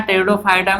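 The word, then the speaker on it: Pteridophyta: जैसे यहाँ टेरिडोफाइटा में पी साइलेंट है, ठीक है, तो इसका ध्यान दीजिएगा, ठीक।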